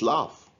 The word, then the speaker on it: laugh: answer is excellent it's love so the gh here is pronounced as f whereas in these twos